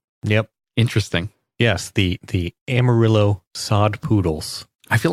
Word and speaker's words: Amarillo: given this logo it's almost as if they're trying to say don't pronounce the two L's so it's a Mario